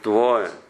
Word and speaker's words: Твое: Защото ударението е върху Твое, Твое, Твое.